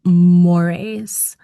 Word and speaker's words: mores: Um, his focus, and this is part of what makes him timeless, is on what's called mores and mores' relationship to politics. Mores is pronounced like more eel.